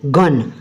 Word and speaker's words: gun: पहला है GUN गन। अब जी के जस्ट आफ्टर यू आया इसलिए इसका जी की प्रोनाउंसिएशन गा होगी।